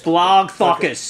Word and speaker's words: Blogthakis: Blagothakis. No, it's Blogthakis.